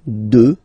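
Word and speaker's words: deux: Final x not pronounced. Okay, 2.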